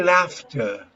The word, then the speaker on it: laughter: and when you pronounce the gh is pronounced like f laugher laughter okay laughter